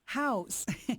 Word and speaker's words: Houzz: it's spelled h u ZZ house and you go online